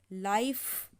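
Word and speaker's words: life: कभी भी कोई वर्ड्स हो जिसमें लास्ट में ई हो, हमेशा ई हमारा लास्ट में साइलेंट रहता है। ठीक है। ई को हम कभी भी नहीं पढ़ते हैं, तो ई को हम कभी भी नहीं पढ़ते हैं। ई हमेशा साइलेंट रहता है, जैसे मैंने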